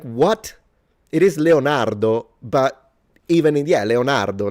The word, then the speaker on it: Leonardo: We have got Michelangelo, Donatello, Leonardo, Raphael.